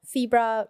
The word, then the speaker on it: Febra: so first of all febra rhymes with zebra yeah and then if